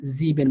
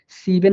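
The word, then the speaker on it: sieben: এই জন্য এখানে আমরা জিবেন বলতেছি। হ্যাঁ, সিবেন না বলে জিবেন বলতেছি।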